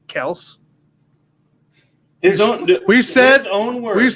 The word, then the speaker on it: Kelce: Did you know Travis Kelce is actually Travis Kels?